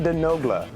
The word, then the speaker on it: Denogla: I could Dahi Denogla.